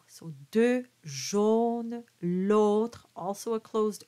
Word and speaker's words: jaune: Deux jaunes, l'autre en papier gris. Now the jaune is a closed O. And the, as opposed to loger, that was an open O. So deux jaunes, l'autre, also a closed O, en papier gris.